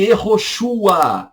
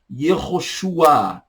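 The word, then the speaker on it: יהושע: Josué, português, e Yehoshua, hebraico. Josué, português, Yehoshua, hebraico. E Yehoshua, tá?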